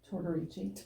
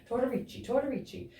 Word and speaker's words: Tortorici: We are sitting down with Felicia Tortorici. I have to say it like 5 times together. You know what I mean? Tortorici.